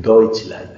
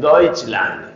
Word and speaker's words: Deutschland: Cuando usted vea EU, ese diptongo en alemán, se pronuncia OI. Entonces usted tiene que decir, no diga Deutschland, tiene que decir Deutschland, Deutschland.